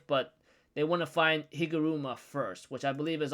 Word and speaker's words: Higuruma: Like, tell me about if you know of a sorcerer named Hiroguma, or how you pronounce his name, Higuruma.